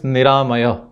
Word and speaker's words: Niramaya: For example, my son's name is Niramaya. In Sanskrit, it would be Niramaya. Four syllables, ni, ra, ma, yah. Begins with N, a sonant, ends in a visarga, yah.